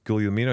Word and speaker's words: Guglielmino: And I said, it's Guglielmino.